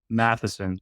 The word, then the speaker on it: Matheson: Madison, is that, or Matheson, like math.